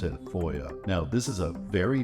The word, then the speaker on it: FOIA: to call this Boya for short foia we pronounce it foia now this is a very powerful tool that